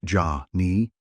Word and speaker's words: Janni: Gygax originally used Jann as singular and Janni as plural, but this would later be standardized to Janni, singular pronounced Ja-ni, and Jann, plural, in 2nd edition.